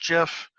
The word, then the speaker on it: GIF: in gif and gifts sometimes you'll hear pronounced jiff but the the gif